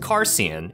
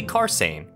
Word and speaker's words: Carsein: i thought his name was supposed to be pronounced carson instead but that would make his name sian